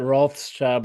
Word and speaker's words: Wrathchild: can still pronounce it Rothschild, but spell it Wrath.